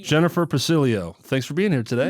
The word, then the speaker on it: Pacileo: started how do you say your last name pilio pilio Jennifer pilio thanks for being here today yes thank you